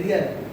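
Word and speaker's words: riyal: और करेंसी की बात करेंगे तो करेंसी का रियल, करेंसी इसका उच्चारण रियल।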